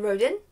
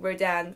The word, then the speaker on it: Rodin: through the whole thing pronouncing his name I mean I don't even know slightly differently each time I said it often Roden sometimes Rodin I know that it's Rodan but in the moment